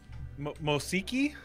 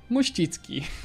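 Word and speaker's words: Mościcki: Mosiki? Mosicki. Mosicki. Okay, so the CKI makes a ski sound?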